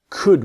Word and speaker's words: could: We couldn't go tomorrow and could we. It's the same with the modal verbs, right? I will see in the next video with would. It's exactly the same same situation. The L is silent.